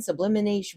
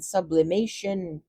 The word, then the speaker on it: sublimation: Therefore, when sublimination when when sublimation Oh, okay.